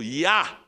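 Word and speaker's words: ja: alemão que tive que a palavra sim em alemão se pronuncia dizendo Ya mas no meu estado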